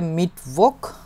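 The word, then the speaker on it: Mittwoch: হচ্ছে dean Starc তারপরে মিটক মিটভোক ফে এর জন্য মিটোক এভাবে করে উচ্চারণ করা লাগবে এবং দুইটা টি আছে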